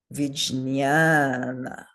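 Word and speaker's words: vijñāna: Vijnana. Vijnana. Good. So 2 short letters and the one in the middle is long.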